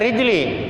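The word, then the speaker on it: رجلي: Fa inna salamata rijli, bacanya rijli, tar rojuli lagi.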